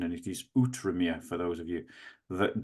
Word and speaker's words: Outremer: it's spelt, but I've been corrected on my pronunciation, and it is Outremer for those of you that don't know.